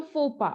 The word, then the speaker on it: faux pas: a blunder okay so fopa okay so maybe you can remember it that your focus pass okay so since your